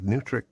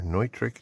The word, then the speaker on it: Neutrik: They also appear to be a complete rip-off of Neutrik or Neutrik, depending on what country your pronunciation comes from.